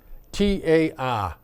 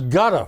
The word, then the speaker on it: Qatar: Yeah, Kitar is how they pronounce it now. Yep, it's Qatar. It was gutter for a while.